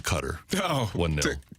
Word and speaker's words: Qatar: understand why somebody else Qatar or is it cutter I think it's officially cutter but people say guitar is closer to like the correct pronunciation but I'm not expecting